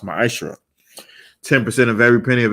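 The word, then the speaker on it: מעשר: Malachi 3 8 through1 means 10th in Hebrew and it's pronounced my isra 10% of every penny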